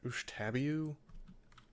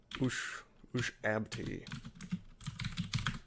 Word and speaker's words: Ushabti: Ushtabiu? Ushabti. I always call them Ushtabis.